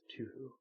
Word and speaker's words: Touhou: Touhou, pronounced Touhou.